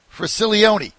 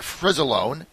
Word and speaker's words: Fricilone: his name right for silly Oney tell me how we say your name actually as usual I say it with a Z Kenneth Z alright first